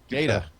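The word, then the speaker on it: Gaeta: By Lieutenant Guy, how do you pronounce that? Gaitan? Huh? Gata.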